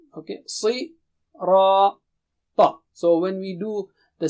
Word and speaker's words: صِرَاط: It's thick. And also it's not English ra, no, ra, with low frequency. And ta is again very thick and high. Okay, si, ra, ta.